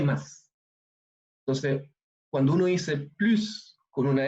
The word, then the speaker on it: plus: Entonces, cuando uno dice plus con una S al final, quiere decir más. Pero cuando uno dice plus sin pronunciar la S, quiere decir ya no hay más.